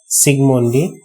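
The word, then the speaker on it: Zsigmondy: लिख के रखा हूँ, सिगमोंडी। इधर पे मैं जे को साइलेंट करके बोल रहा हूँ, सिगमोंडी।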